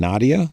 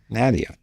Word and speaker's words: Nadia: Nadia. So we could do a little bit more of a American Nadia, and to be closer to the Arabic pronunciation.